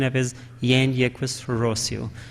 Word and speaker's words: Jean-Jacques Rousseau: It's dominantly called as Jean-Jacques Rousseau, but in French, J is not pronounced, so the original pronunciation of it is Jean-Jacques Rousseau.